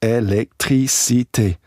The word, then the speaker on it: électricité: And they said, no, it's électricité. I said, yeah, electricity. And they went, no, you have to pronounce every syllable.